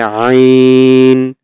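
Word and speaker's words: عين: এই যে হলকের মাঝখান থেকে একটু চাপানো, এইখান থেকে একটু চাপ দিয়ে উচ্চারণ হবে। আ, আ, আ, এরকম। তাহলে আইন, আইন, আইন, আইন, এরকম।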